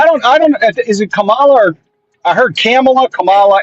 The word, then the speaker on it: Kamala: no kids I'm just telling you how to pronounce it it's Kamala now we're not GNA do that I like